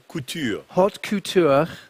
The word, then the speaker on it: haute couture: Als erstes schauen wir uns mal die große Komplikation an, die Haute Couture, - Nein, nein, nein, Haute Couture spricht man das aus, - ...